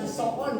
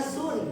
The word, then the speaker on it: sun: Ini dibacanya bukan soon ya, bukan sound tapi dibacanya sun.